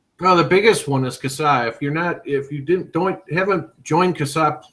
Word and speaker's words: CASAA: And that is CASA. That is CASA. It's spelled CASAA.